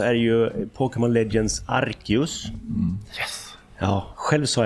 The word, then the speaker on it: Arceus: Arceus ska det tydligen vara.